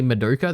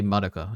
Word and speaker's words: Madoka: dub by the way they don't say Moka they say Madoka and I'm like thank